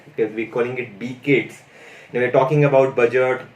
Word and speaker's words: B-CIDS: skills, and on top you see something called B-CIDS. That's how it gets pronunciated, because we're calling it B-CIDS.